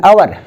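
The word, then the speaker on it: hour: उच्चारण एच का उसमें नहीं होता, एच आपका साइलेंट हो जाता है, तब आप एन का इस्तेमाल करते हैं। जैसे एन आवर, एन हॉनेस्ट, तो हॉनेस्ट में एच चला जाता है, ऑनेस्ट हो जाता है।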